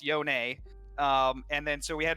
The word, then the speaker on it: Yone: Yone and not Yown? Yeah. So I think that's just because it's how it's pronounced, right? Like when I first started working on it, I wasn't sure what it was either, and I asked Brad, certainly T, and he's like, oh, it's Yone.